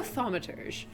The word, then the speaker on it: thaumaturge: I don't actually know how this is pronounced. I think it's a real word, though. It is thaumaturge.